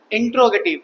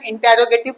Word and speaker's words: interrogative: चलो, आज का टॉपिक आपका होने वाला है इंट्रोगेटिव। एक चीज ध्यान रखिएगा, मैंने हर टॉपिक को पढ़ाते समय जब भी पढ़ाया टॉपिक, इसका प्रोनाउंसिएशन इंटेरोगेटिव कहीं नहीं है। ये इंटेरोगेटिव नहीं होता, ये इंट्रोगेटिव है।